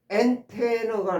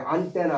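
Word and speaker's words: antenna: 나중에 라이스가 스크립 포스트 스크립 PS 그다음에 여기 보시면 엔테너가 나와요. 발음은 엔테너 이렇게 발음했어요. 안테나 하지 마시고 보통 그냥 안테나 안테나 그러는데 엔테너예요.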